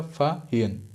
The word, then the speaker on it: Fahien: फाहियन का स्पेलिंग में बता देता हूँ, FAHIEN, प्रोनाउंसिएशन भी ऐसा होगा, फाहियन, ठीक है।